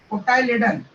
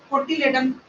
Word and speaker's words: cotyledon: कुछ लोग इसको कोटिलेडन प्रोनाउंस करते हैं, जिसके कारण कंफ्यूजन हो जाता है। ओके, है ना, कुछ लोग जैसे वहां पर इसको प्रोनाउंस करते हैं कोटिलेडन। कोटिलेडन से डिफरेंस आ जाता है।